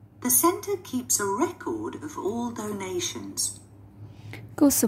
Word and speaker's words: record: Verb are usually stressed on the second syllables. Động từ thì thường thường sẽ được đánh trọng âm vào âm thứ hai. Ví dụ, to record. To record.